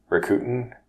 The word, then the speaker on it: Rakuten: K u T Ian Rakuten yeah it's written right that's fully sure how to say it but they they bought Ebates about a bunch of other companies for syllables for so raku teton record Titan rocket a te yeah and is it over the end is its own syllable yeah record Tenten you don't you don't split them up as much as we did yeah it's more smooth like your Tenten I could rut